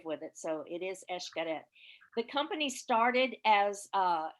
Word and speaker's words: Xcaret: song it is esh the x is pronounced like an e-s-h cadet so many people x-carat i did that when